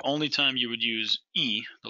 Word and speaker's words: y: time you would use E, the letter Y in Spanish, would be between that 10 and that 1 from the 30s to 90s. You don't put and, the letter Y, pronounced E, anywhere else when writing